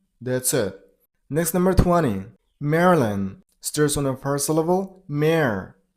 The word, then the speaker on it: Maryland: next number 19 man here is only one syllable so Man, that's it. Next number 20. Marilyn sters on the first level.